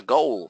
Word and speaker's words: goal: Goal significa meta. The goal. Goal. Okay? Se pronuncia O. O, goal.